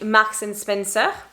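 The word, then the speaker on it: Marks & Spencer: many they are but we say max and spencer more or less if you know where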